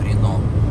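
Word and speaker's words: Reno: Пишется R-E-N-O, Рено.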